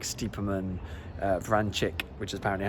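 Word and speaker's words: Vrančić: to say with without players like stephen uh vran chick which is apparently how i'm supposed to pronounce it now mario francis um tribal and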